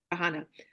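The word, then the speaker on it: Kahane: I was brainwashed for years, even when I became a Zionist, that how do you pronounce his name properly? None. Kahana.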